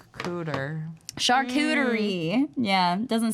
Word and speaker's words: charcuterie: I think the French pronunciation I'm gonna butcher as charcuterie, but Charcuterie. but I call it charcuterie because I'm an American.